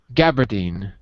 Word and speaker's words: gabardine: what he looks like john how do you pronounce gabba jin cap john gabardine thank you what first of all what is